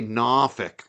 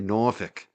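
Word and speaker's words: Norfolk: Don't say NFK. Say Norfk.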